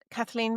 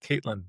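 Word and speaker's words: Caitlín: Well, I thought I I would have pronounced it Caitlyn, but it's No, you don't. It's It's written Kalin, but it's a um Irish way of saying that particular spelling of her name.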